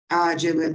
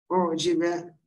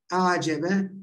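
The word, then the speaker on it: أعجب: Çünkü bu acebe diye okunulabilir. Ucibe diye belki okunulabilir. Yani. Fakat bunun okunuşu acebe hasenun aişe te şeklindedir.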